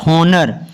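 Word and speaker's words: honour: होता है मतलब की अगर लिखा हुआ हा के जस्ट आफ्टर वो है तो साइलेंट होगा आप एग्जांपल्स में हम देखते हैं क्या लिखा है हा ओ एन ओ यू आर इसको ओनर बोलते हैं ना की ऑनर हा की यहां पर हा की आवाज निकालना है ना यहां पर हमने हा की आवाज नहीं निकालनी सिर्फ ओजोन ना की ऑनर नहीं इसको पढ़ना क्योंकि जो हा है वो ओ से पहले आया है क्लियर नेक्स्ट है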